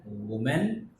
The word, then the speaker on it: women: MEN. That is pronounced differently. Women. Woman, we are talking about only one woman. But we are talking about more than one. That time we use MEN. Women. And the pronunciation is different.